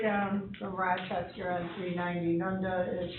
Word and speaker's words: Nunda: And if I pronounce it wrong, it's, he's out of Nunda, N-U-N-D-A, New York, is the sole owner of the post office. Nunda, Nunda. kind of like Nunya.